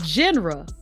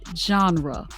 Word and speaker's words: genre: One of our guys said genre. I couldn't figure out what he was talking about. And he's so intelligent and educated. And I said, it's pronounced genre.